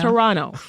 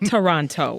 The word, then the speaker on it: Toronto: yeah yeah because because we don't say the second T right it's Toronto not Toronto okay as you Americans say but um so my